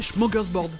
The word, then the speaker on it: smorgasbord: Et des fois, c'est prononcé smorgasbord, comme dans cet extrait. Et ensuite, dans ce smorgasbord de langues et de pays, nous passons au sud de l'Europe avec l'Espagne.